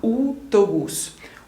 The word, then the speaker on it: autobús: veamos estos ejemplos autobús podéis escuchar que pronunciamos las dos vocales la a y la e a autobús o aeropuerto aeropuerto como podéis ver se pronuncian cada una de estas vocales y por eso es